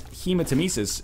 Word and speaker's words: hematemesis: NL, you need to pronounce hematemesis as you would hematoma.